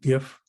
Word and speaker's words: GIF: wish to pronounce it i was told it was jif like giraffe but most people say gif um and the third